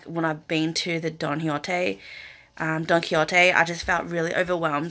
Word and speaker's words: Don Quixote: Like, okay, so I've been calling it Don Quixote, but it's actually pronounced Don Quixote.